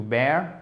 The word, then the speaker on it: bear: Donc ici, ça se prononce comme un A, to bear, ok?